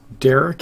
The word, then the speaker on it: Darick: It's Derek, as in my YouTube name, or on the screen you can see how it's spelled, D-A-R-I-C-K, 00. It's Derek 00.